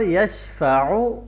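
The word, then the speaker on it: يشفع: यशफ़अु आइन, ऊ को लंबा नहीं करना, यशफ़अु इंदहु करेंगे गलत हो जाएगा।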